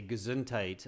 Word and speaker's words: Gesundheit: Ava just remember the the pronunciation is not very Germanic it's much more English we just simply say gesundheit I'm sure in German